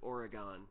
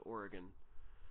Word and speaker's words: Oregon: I am south of Madison in a city called or a village called Oregon, and we pronounce it Oregon, even though the state is Oregon.